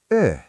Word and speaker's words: Yö: Teacher: Finally, the letter Y. In English, we think of "why." In Finnish, it’s a vowel. It sounds like the 'u' in "huge." To make this sound, make your lips into a tight circle like you’re going to whistle, but try to say "ee." The word for "night" is Yö. Sarah, try that combination: whistle-shape lips, say "ee," then move to "Ö."